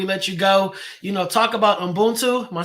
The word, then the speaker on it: Ubuntu: And Derek, last thing before we let you go, talk about Ubuntu.